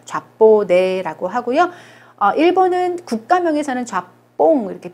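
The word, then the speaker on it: japonais: 자, S 발음하지 않아요. 좌뽀네라고 하고요.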